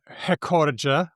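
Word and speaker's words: recorde: It's spelled with no accent mark and that means that according to Portuguese rules, which I barely understand, but I assume they're kind of like Spanish. This is a good linguistic basis. Yeah, sure. Why not? The penultimate syllable, the second to last syllable, usually gets the stress unless there's an accent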